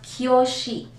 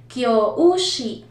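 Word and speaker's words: 教師: Kung mapapansin nyo, sa spelling natin merong u sa gitna, kyoushi. Pero sa Japanese, hindi nila binabanggit ng kyoushi, hindi sila ganun mag-pronounce. Ginagawa nilang prolong yung u, magiging kyoshi, pinapahaba nila yung o. Instead na basahin kyoushi, ang basa nila ay kyoshi.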